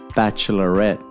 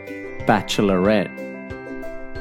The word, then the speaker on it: bachelorette: Bachelorette. The stress is on the second E. Bachelorette.